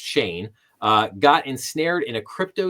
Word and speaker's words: Shan: So prosecutors say that Hanes, whose first name is pronounced Shane, got ensnared in a